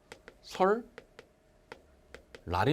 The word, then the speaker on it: 설날: 워킹 자 2층 보십시오 설날 이거든요 이쪽 발음 설 lr 이죠 이 친구의 바람을 몸 알겠지만 설 라리 입니다 l 몇게 2개 보심